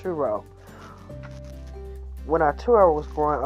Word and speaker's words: Arturo: he's a historian when Arturo was uro okay my bad y'all I pronounced it wrong in the beginning it's uro when our Touro was